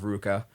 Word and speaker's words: RVCA: For those who don't know what that is, that's the RVCA clothing brand that everyone wears, and they have no idea how to pronounce it. It's called Ruka. And Rivka?